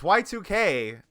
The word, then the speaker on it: YIIK: name can you yeah yuck uh what do you look like yeah that yes this is the Fable League I I can't not say it like that it's Y2K but it like stylizing